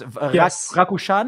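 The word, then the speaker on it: Rakušan: So Stan who stan this Rakushan is that correctly pronounced?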